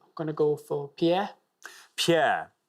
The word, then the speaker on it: Pierre: Pierre, they actually pronounce it because you know what Americans are like with French words. Pierre. Yeah, Pierre.